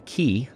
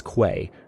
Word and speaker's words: quay: doing a uh a key talked about that in the first episode I pronounced in the first episode uh a a word that phonetically is Quay but it's actually pronounced key didn't know that appreciate